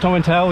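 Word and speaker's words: Tomintoul: Tom and tail towel I wondered how it was said oh it's pronounced Tom and towel yeah my mom's from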